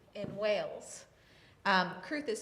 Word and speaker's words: Crwth: And I'm playing an instrument called the Welsh Crwth, or it was known as the Crwth in Wales. Crwth is spelled C-R-W-T-H naturally, and I'm playing this because